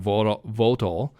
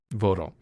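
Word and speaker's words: Vogtle: Did I say that right? Votel? I think so. Votel? Yeah, Votel. It's spelled Vogtely. Vogtely. Yeah, I think that it's was Votel. like, when I was from the U.S., like, I probably would have pronounced it the same way.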